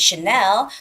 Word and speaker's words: Chanel: oh by the way when you say that name of that luxury brand Chanel the stress goes on the second syllable so it's not Channel